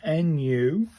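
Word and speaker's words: ぬ: So, Nu, pronounced like the new in noodles, but short. So, it's a new in it. It's not a new. It's a new. It's a new new.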